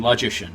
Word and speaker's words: logician: The pronunciation, yeah. Sounds like magician, logician, yeah.